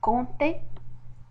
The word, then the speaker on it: compter: une habitation, ou bien au milieu du mot, comme le P dans compter et G dans longtemps, ainsi le P et le S.